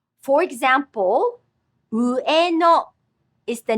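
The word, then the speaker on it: 上野: For example, Ueno is the name of an area in Tokyo with a very large park. It has three syllables. Ueno.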